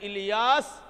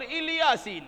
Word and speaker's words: الیاس: آ چکی ہے کہ الیاس علیہ السلام کے نام کے دو تلفظ ہیں، الیاس اور الیاسین۔ یہاں کہا وَسَلَامٌ عَلَىٰ